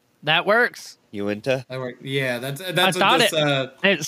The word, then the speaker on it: Uinta: And this thing's saying it's pronounced Uinta. That works. Uinta.